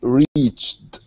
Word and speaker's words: reached: Can I ask a question about the same pronunciation in reached? Yes, yeah, Reached. Yes. it's the same. Reach and reached with the t sound.